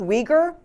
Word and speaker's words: Uyghur: ethnic population in china it starts with a you but it's pronounced uyghur the uyghurs in china